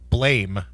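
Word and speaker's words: BLAME!: on netflix it's called blame it's better than the original japanese i guess it's pronounced blam but it's spelt blame and uh and it's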